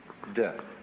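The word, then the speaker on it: 德: We Romanize it as T-E-H, de.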